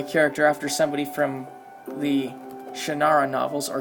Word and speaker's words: Shannara: And I'm going to be nostalgic and name my character after somebody from the Shannara novels, or Shannara, as I've also heard it pronounced.